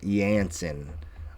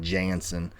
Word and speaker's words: Jansen: All right, somebody in comments said it's pronounced Yansen. All right. It sounds like it's spelled with the Y, but it's a J.